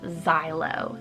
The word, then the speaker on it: Xylo: But the last name on today's list is the name Xylo, spelled Z-A-I-L-O, or you can do X-Y-L-O.